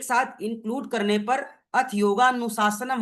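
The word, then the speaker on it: योगानुशासनम्: A silent है गायब हो जाता है। आप अपने सूत्र में देख सकते हैं। अथ योगा अनुशासनम अ यहां पे नहीं है। है ना? अथ योगा अनुशासनम यहां पे अ शब्द साइलेंट है।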